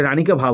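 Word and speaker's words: Rani ki Vav: এটা রানিকা ভাভ হবে, বানানটাকে দেখে নেব। ভাব হবে ভয়াকার ভাভ।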